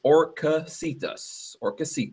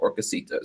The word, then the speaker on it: Orcasitas: Been a while since okay, I've been to a so Chris said is Orcasitas. So there you go. That's how you pronounce his name, Orcasitas.